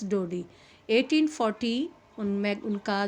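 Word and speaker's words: Daudet: author अल्फास डोरी okay T T word इ silent here तो यहां पर जो टी वर्ड है वह साइलेंट है the pronunciation you will use अल्फास डोड 1840 उनमें उनका जो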